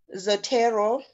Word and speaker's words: Zotero: He says you can use software link Zotero. I'm not sure if I'm pronouncing it correctly. It is free and it helps to organize citations. Yes, you pronounced it correctly.